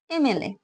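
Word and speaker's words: MLA: মনে করো আমি একটা দিলাম এমএলএ। এই ওয়ার্ডটাকে আমরা গোটাগুটি উচ্চারণ করি, তাই তো? এম এল এ বলি।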